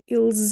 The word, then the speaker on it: eles: So the z sound, this s becomes a z, and this person put the z attached to the following word, which makes perfect sense.